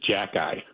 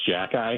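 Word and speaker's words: Xhekaj: So I just want to say the Montreal player's last name is Jack-Eye. It's pronounced Jack-Eye.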